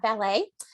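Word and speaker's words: Wallet: danielle and i apologize i vote valet i think i said it's spelled w-a-l-l-e-t and i tend to read things as i see them but it's uh ballet so uh but this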